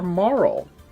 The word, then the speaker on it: Marle: As a kid, I obviously pronounced it Marley, that's what I thought it was. But we can figure this out by looking at the Japanese. In Japanese, her name is spelled in katakana as Maru, which kind of gives